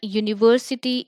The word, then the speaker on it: university: Now you would ask me that university is U, which is a vowel, then why I have add A here?